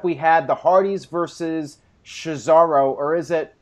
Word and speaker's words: Cesaro: All right, next up we had the Hardys versus Cesaro, or is it... How do you pronounce it?